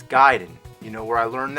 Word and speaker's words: Gaiden: Everyone always said Ninja Gaiden, but I know for a fact it's Gaiden.